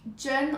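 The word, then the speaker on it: 真: vraiment de règle Chine se prononce jeun en mandarin et veut dire vrai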